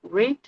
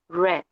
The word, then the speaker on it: read: Cuando nosotros lo tenemos en presente decimos read y cuando decimos en pasado decimos red, como si fuera el color rojo.